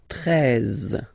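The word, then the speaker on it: treize: Then now if you combine this E and E, you get the sound E, really open. 13, 13. Final E, as usual, not pronounced.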